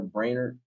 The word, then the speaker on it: Brainerd: your name because you can trademark brainer um I said it right right yeah there